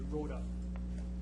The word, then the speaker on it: Rhoda: Road. If you could identify yourself, who you represent, you as well have 5 minutes for your presentation. It's actually Rhoda. It's German, so you pronounce all the letters.